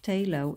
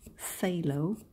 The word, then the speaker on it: phthalo: I now know that the world word Taillow is not I don't I didn't pronounce it correctly it is in English fellow so thank you for